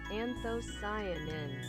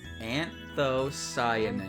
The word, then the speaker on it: anthocyanin: Anthocyanin. Anthocyanin. Anthocyanin.